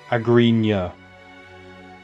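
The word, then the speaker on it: Agryna: shadows of reach and the correction of the sparta commander's name which is pronounced agreement spartan agreement while there's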